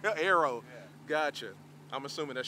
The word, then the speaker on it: Aero: I was saying it wrong earlier. Okay, you were saying Euro. Euro. Aero.